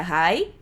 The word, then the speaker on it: high: E a gente pronuncia high igual oi.